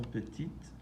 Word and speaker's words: petite: Les jeunes filles sont petites. Les garçons sont petits. Notice again that the E changed the pronunciation from petit to petite.